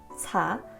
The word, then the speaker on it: 사: The number 4 in Korean is pronounced sa, which is the same as the Sino-Korean word for death.